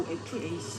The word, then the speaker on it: OFAC: 석유 수출국 OPEC과 오팍이라고 읽어야 되는 거군요. OFAC.